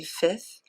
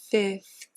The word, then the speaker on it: fifth: And in the 5th grade, and you notice that when I say fifth, I don't bother pronouncing that second F. I don't say fifth. I just say fifth, as if it were F-I-T-H, fifth.